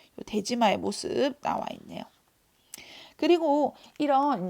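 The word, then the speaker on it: 出島: 제한하기 위한 목적으로 인공섬 대지마를 만든다라고 했었죠. 그죠? 마가 섬이에요, 섬. 섬도자를 마라고 읽는 거예요. 스시마. 독도 같은 경우에 다케시마라고 읽는 것처럼.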